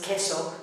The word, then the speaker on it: queso: The U is silent. And the example was queso for cheese.